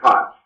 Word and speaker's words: Koch: Is this, you pronounce it Koch or Koch? Oh, you're muted. Muted. Pardon me, it's Koch.